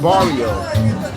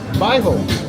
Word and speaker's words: bairro: If you say the word barrio, and do not say barrio in Brazil. Okay, what should they say? Bairro, which is the same, it's the same word, but like just stop.